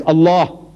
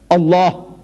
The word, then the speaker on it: Allah: pronounce the way we are asking you to pronounce our language it is not it's Allah try try try Allah not so next one that comes out Scofield